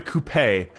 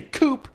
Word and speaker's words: coupe: This brings me to our next car style, the coupe, or the coupe, depending on how you pronounce it. I say coupe because I'm a red-blooded American and can't say words like tutor, and because coupe sounds like a toupee for your car, and that just makes me itchy.